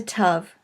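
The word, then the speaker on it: tav: on the upper right the final letter of the alphabet is a tough and it is pronounced like a t now we already noted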